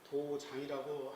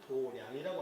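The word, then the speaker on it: 道場: 도장이라고 한문으로 쓰지만은 발음할 때는 도량이라고 합니다.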